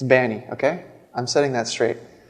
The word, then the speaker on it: b4nny: So it's still pronounced b4nny. Some people, they don't get the 4 as leet speak, right? It's not a U, it's not an E. There's no Benny, there's no Bunny, there's no Bonnie, no Binny.